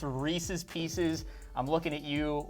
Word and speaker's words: Reese's: the intention of handing out the take five Reese's Carlos Michael what if kids come but then she realized she wouldn't be a part by the way it's pronounced Reese's and not Reese's I'm just gonna get on